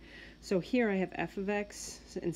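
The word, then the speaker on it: f(x): is f it's pronounced f of X right it's not it's not multiplication it's the word of and that just means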